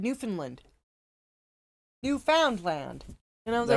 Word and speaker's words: Newfoundland: Oh yeah, we were watching Joe Scott today, and he pronounced it Newfoundland. Yeah. And it was just like, no, it's like one word, Newfoundland.